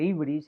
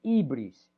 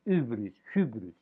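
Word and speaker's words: ὕβρις: B, R, I, S, ibris. Los erasmianos lo pronuncian hybris, pero bueno, no, yo no lo pronuncio así.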